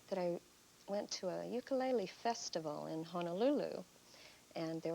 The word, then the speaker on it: ukulele: the techniques oh actually i'm mispronouncing ukulele aren't i yes you are it's ukulele ukulele it's a hawaiian word and uku is the hawaiian word for flea and lele is for jumping so a jumping foot